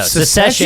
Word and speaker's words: secession: the tv show yeah you're saying it wrong i can't say where it's succession succession secession no secession yeah like they want to secede from from their parents like civil war yeah